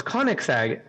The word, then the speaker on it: Koenigsegg: And she goes, Koenigsegg. And he's like, yeah, I don't think that's how that's not how it's spelled.